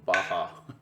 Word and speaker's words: Baja: And I know it's written with a J, but it's a Spanish pronunciation, so it's Baja, like jalapeno.